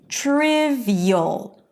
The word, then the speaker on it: trivial: When the suffix appears after all consonant sounds except for a sh sound, then we pronounce it as eel. Two vowels. Eel as in trivial.